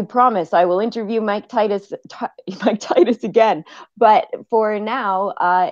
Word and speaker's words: Titus: No, it's Titus.